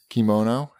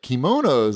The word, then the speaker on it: kimono: Anytime you see K-I, it's key.